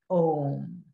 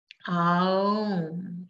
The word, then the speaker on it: Om: And that sound was Om. And the sound Om, like Amen, or Amin, or Ah, in some cultures, is made up of the sounds, the syllables, Ah, U, and Imma. So Ah, U, Aum, Aum, Om, Om, Om, Om.